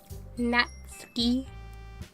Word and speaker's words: Natsuki: Your pronunciations are, but if I'm right, the U in Natsuki is kind of silent. It's more like Natsuki. Natsuki.